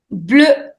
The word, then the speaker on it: bleu: Bleu. Bleu. The pronunciation of EU is E, so it is bleu.